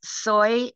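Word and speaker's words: Soi: sure um one is soy dog foundation and soy is spelled s-o-i not s-o-y s-o-i dog foundation it's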